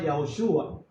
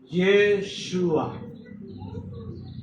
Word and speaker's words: Yeshua: el nombre se contrajo porque antes era Yahoshua en el tiempo de del hijo de Nun. Yoshua ven, ven Nun. Unos dicen Yahoshua, otros dicenhua. Okay. Pero en el tiempo de Babilonia eh la pronunciación se contrajo y la pronunciación quedó como Yeshua. Entonces, propiamente dicho en el hebreo, la forma original del nombre del Mesías es Yeshua y significa Yahvé salva, sana y liberta.